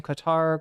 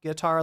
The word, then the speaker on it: Qatar: Um I keep on pronouncing it like guitar, like the musical instrument Qatar. Um is what I'm trying to say.